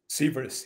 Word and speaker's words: Sivers: Is it Sivers, or am I saying it correctly? Sivers, yeah. Sivers. Correct.